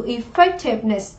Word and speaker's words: effectiveness: Ở đáp án C chúng ta sẽ có từ effectiveness, danh từ sự hiệu quả, chúng ta có trọng âm 2.